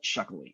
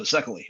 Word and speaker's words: Szekely: So Szekely. Okay, what's the proper Hungarian pronunciation? The Hungarian pronunciation is CK. Okay. It's like letter C, letter K.